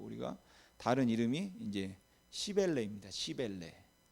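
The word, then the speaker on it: Cybele: 시벨레. 그래서 악센트를 앞에 두시고 발음하면 안 됩니다. 웬만하면은 시벨에다 악센트를 준 게 좋겠죠. 그래서 어떤 발음은 뭐 이것을 또 키벨레 뭐 이렇게 말하기도 합니다.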